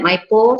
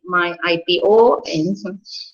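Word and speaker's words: MyIPO: we know popularly as maipo so some people pronounce that my po some say my ipo so you decide how you want to call it but uh to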